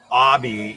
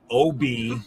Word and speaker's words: Obi: the last you were talking about Abby even though it's clearly OB I've seen Star Wars I don't know why anyone would ever pronounce it otherwise um because they even